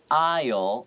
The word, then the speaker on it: aisle: So here, aisle, the S is silent.